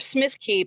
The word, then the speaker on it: Smithkeep: wrong the shire of smithkeep in glen oven now they say it keep and it's k-e-p-e at the end so it's smith keep so i mean there's